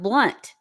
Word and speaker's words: Blount: here starflower said that her sister's name married name is Blount but it's pronounced blunt yeah I think it's